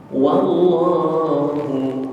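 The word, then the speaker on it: والله: dengan huruf hidup alifahuimb wallahu berkalikali saya ingatkan W dipatah dibaca WA maka bacanya dengan Wa jangan wo baca wallahu Bim dengan wallahu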